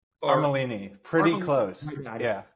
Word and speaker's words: Armellini: Is it Armellini? Armellini. Pretty close. Yeah. I thought the two L's were, it was a trick there. It sounded like a Y maybe.